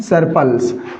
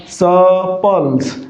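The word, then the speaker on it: surplus: लेकिन साथियों इसका उच्चारण क्या होगा? स पल्स। यानी कि मैं ये कहना चाहता हूं साथियों कि ये जो आर है इसकी ध्वनि यहां पर नहीं आएगी। आर की साउंड नहीं आएगी।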